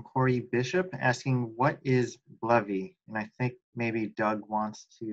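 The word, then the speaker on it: BLEVE: So we have another question from Corey Bishop asking, what is Blevy?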